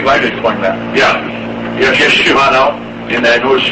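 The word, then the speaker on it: ישו: Now, Yeshu, the name Yeshua in Aramaic is pronounced Yeshu.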